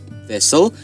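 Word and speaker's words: thistle: okay then we've got thisle thisle here the silent letters are T and E okay how about knit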